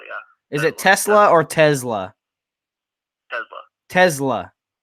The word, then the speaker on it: Tesla: Tesla, yeah. Is it Tesla or Tesla? Tesla. Tesla. So you're saying it rhymes with Pez-da.